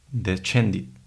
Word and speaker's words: descendit: O también una SC seguida de E o I se pronuncia también como che. Entonces tenemos palabras como descendit.